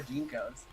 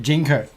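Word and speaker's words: JNCO: we talk about like old style when we've all lived through the Jinko era and we all wore Jinkos. Is that how you say it? Jinko.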